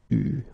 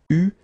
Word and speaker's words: eu: Okay, you write it like that, but you pronounce it eu. Okay. So, tu, here the participe passé, eu, and then plus.